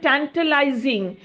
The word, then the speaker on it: tantalising: একটা হচ্ছে উচ্চারণটা ট্যান্টালাইজিং, TANTALISING, ট্যান্টালাইজিং।